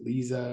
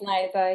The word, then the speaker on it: Liza: And I know that Liza wanted to, is that how you pronounce it, Liza, or is it Lisa? Or Liza? It's Liza, yeah.